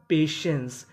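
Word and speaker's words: patience: इसे पढ़ेंगे पेशेंस।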